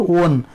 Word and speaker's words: one: Yes, it is vowel letter, but its pronunciation goes to one. One means 1 rupee note. You know, 1 rupee note. One is consonant sound.